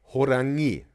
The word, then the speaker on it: 호랑이: But the pronunciation with the tiger is then Horangi, right? Emphasis on the I at the end, right? Or E.